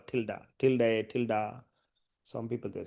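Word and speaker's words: tilde: This symbol is called a tilda. So it's very very powerful stuff. That's very unique. This is called tilda. Tilda. Tilda. Some people they say till day. Some people say tilda. So usually pronounces tilda.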